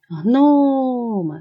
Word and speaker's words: гноми: Кличемо гноми. Наголос падає на перший склад, на звук о.